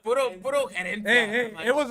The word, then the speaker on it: Herencia: They're like, you know, it's Herencia. I'm like, nah, you can't, bro. It's the H, bro. I'm like, no, the H is silent.